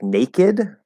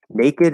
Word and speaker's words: naked: the easy rule now there are a couple exception words that where the e is pronounced okay um and you will run into a like naked naked is an exception normally right if i